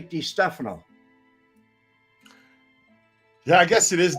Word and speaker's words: DeStefano: Now, I noticed Joe calls him Sam DeStefano, and Frank called him Sam DeStefano, and I called him Sam DeStefano. But other people say DeStefano.